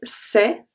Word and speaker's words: c'est: The C apostrophe is going to be pronounced as a S as well. EST make the sound E, so it's c'est, c'est.